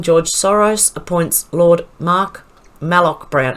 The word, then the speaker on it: Malloch: lord mark malloch brown it's malloc it's not moloch it's malloc brown the former president of smartmatic to lead opens it sounds like and i often pronounce it as molok that's just i think it's the australian way of speaking australian accent it's malloc not moloch that's probably just the